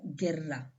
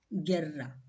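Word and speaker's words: guerra: will pronounce this as Gerra so yeah you will be silent why you is silent because U is coming between G and E so U will be silent and we pronounce is Gerra G now the letter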